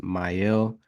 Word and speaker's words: Meile: I believe it's pronounced Meile dVPN, a decentralized VPN client utilizing the Sentinel blockchain.